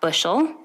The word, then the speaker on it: Buchel: Everybody always pronounces it that way. Like the teachers would always pronounce it Buchel and think I'm French. But see, and it's actually Lithuanian.